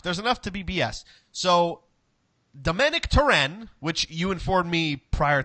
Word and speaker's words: Domènec Torrent: but there's enough there's enough to BBS so Domanick turin which you informed me prior to jumping online that that's the actual pronunciation of the man's name as far as